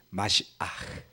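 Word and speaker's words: משיח: 히브리어로 마시아흐릅니다. 끝이 이게 들어가요. 그래서 마시아 이렇게 되는 거죠. 영어로는 H가 묵음이라서 뭐 사야 그러면은 뒤에가 없어요. 소리가.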